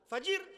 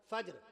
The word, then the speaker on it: فجر: نے عصر بتایا نا، فجر نہیں، فجر کی نماز نہیں، فجر کیا؟ فجر۔ اللہ نے قرآن مجید نے کیا فرمایا؟